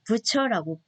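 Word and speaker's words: Bucer: 그다음 마틴 부서의 영혼 돌봄은 이 사람의 독일 이름은 부처라고 이렇게 발음을 합니다.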